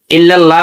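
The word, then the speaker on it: إلا الله: ইল্লাল্লাহ বলে ইল্লাল্লাহ। লাম মোটা হবে। আল্লাহ শব্দের ডানে জবর এবং পেশ থাকলে লাম মোটা করে পড়তে হয়।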